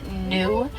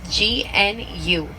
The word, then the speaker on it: gnu: Now, you'll sometimes hear them referred to as gnu. That's spelled G-N-U. And that refers to the low grunting noise that they make. So, kind of like how a cow goes moo, a white-bearded wildebeest will go gnu.